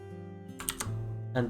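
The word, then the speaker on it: へ: And the last particle that we talk about, is A. Pronounced A.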